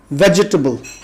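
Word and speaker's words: vegetable: सब्जी को हमारे यहाँ वेजिटेबल कहा जाता है, जबकि सही तलफ़्फ़ुज़ इसका वेजिटेबल है। यानी जी के बाद जो ई है वो बोलने में नहीं आना चाहिए, सो इसका तलफ़्फ़ुज़ होगा वेजिटेबल।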